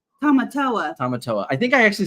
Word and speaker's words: Tamatoa: Tamatoa.